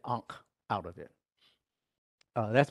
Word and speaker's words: ankh: this area here uh well that apostrophe is a consonant that could be several different vowels and then the n and then the H actually has a line under it so it's a hard H sound so that's how you get ankh out of it uh